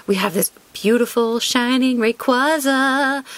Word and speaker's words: Rayquaza: have this beautiful shining Rayquaza Orta cuza if you go with Japanese pronunciation we've got a soul